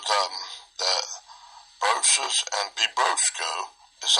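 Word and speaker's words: βιβρώσκω: Comes from B-I-B-R-O-S-K-O. Bibrosco. I think that's the verb form of it. That's how we pronounce it. Strong's G 977. Bibrosco. Bibrosco. Bibrosco. Like my big brosco.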